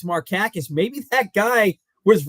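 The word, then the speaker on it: Markakis: he's not your cousin you don't even know how to pronounce his name and now you tell me it's marakis maybe that guy was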